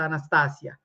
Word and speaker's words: Anastasia: Anastasia by the way her name pronounced Anastasia is Russian it's a beautiful language pronounce it correctly don't what's this Anastasia what what it sounds almost like she's going on the anesthesia but anyway so so so so so please kindly pronounce it right so I think she